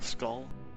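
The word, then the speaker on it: Skaal: How it's pronounced. S-K-A-A-L, Skull.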